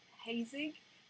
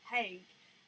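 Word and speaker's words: Haig: author called matt hague i've been pronouncing his name wrong for about a month i keep calling him hazing and it's because his instagram handle is matt zed hague and me with my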